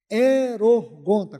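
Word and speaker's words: ἱερουργοῦντα: Erorgonta, com H. Erorgonta seria a pronúncia mais próxima do português.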